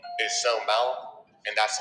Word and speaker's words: Sewmouth: And my musician name is So Mount, and that's spelled SEWMOUTH.